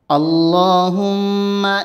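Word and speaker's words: اللهم: আল্লাহুম্মা ইন্নী, হামজা লাম জবর আল, লাম খা জবর ল। এখানে আল্লাহ শব্দের ডান পাশে জবর হয়েছে, এজন্য আল্লাহ শব্দের লামকে মোটা করে উচ্চারণ করতে হবে।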